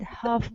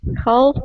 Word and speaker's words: half: pronunciation of this word Half Price Half Price L is not pronounced half half price price